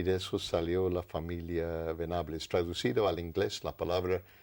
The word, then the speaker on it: Venables: El apellido se pronuncia de una manera un poquito más sofisticada, Venables, ¿no es cierto?